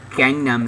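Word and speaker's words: 강남: So the song is, you guys know it as Gangnam Style, but in Korea they pronounce it Gangnam, like a K.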